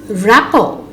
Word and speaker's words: rapport: The silent letter T. Interview, buffet, gourmet, rapport, penchant, listen, glisten, hasten, fasten, castle, whistle.